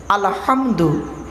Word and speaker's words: আলহামদু: আলহামদু, হে হে, গলার ভেতর থেকে হেটা উচ্চারণ হবে। আলহামদু, আলহামদু মানে হচ্ছে সমস্ত প্রশংসা আল্লাহ তোমার।